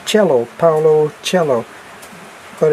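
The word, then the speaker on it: Coelho: It might be Paulo, the way that it's pronounced, because he's Brazilian. And then it's Cello, Paulo Cello, but it's C-O-E-L-H-O.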